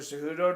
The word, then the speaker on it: Cejudo: Yeah, just wait for Cejudo to grab this one. Labatt's is a Canadian beer, pronounced Labatt's, Greg.